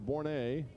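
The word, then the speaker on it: Bourret: the right-hander Matt bour B R Annie pronounced bouret and he is ready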